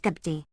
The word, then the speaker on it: Kabti: The word Copts or Copt, in Egyptian Kabti and pronounced Gabdi, contains the same consonants.